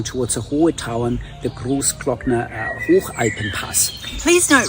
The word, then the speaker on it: Großglockner Hochalpenpass: It's just, of course, my German background comes in handy so I can pronounce it in the original German way. So again, so the Großglockner Hochalpenpass, bottom line, a really